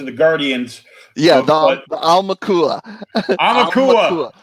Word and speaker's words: Aumakua: Aumakua. Just think like owl, because it's AU, and that's owl in Hawaiian. So Aumakua.